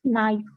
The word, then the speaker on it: gneiss: इसका जो जी है ये हम साइलेंट पढ़ते हैं, इसे हम नाइस कहते हैं.